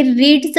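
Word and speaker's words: read: त्या ठिकाणी रेड झालं हे रीड स्पेलिंग आहे मात्र ज्या वेळेस हे सेकंड आणि थर्ड ला येत तेव्हा आपण याला रेड वाचतो सेंट झालं नेक्स्ट सेन्टेन्स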